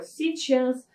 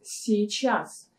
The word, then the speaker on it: сейчас: ну давай пока извинить так вот это слово сейчас мы очень часто сокращаем / час час или